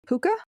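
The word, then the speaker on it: puca: So a similar creature in Ireland is known as a puka or a ghost. Did you say puka? Puka. How do you spell that?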